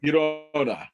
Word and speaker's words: Girona: So Real, they drew against Granada, or how you pronounce it? Girona.